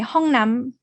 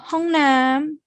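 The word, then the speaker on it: ห้องน้ำ: You don't want to say Hongnam. The word Nam here is long when you place it as the second syllable, but it is going to be shortened when you place it as the first syllable.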